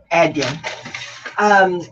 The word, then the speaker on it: Adyen: Thank you for pronouncing Adyen correctly. Right, Adyen.